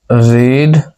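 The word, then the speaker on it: read: The book is नॉट रीड बाय, रीड का third form रेड होता है, ठीक है, उच्चारण अलग अलग होता है।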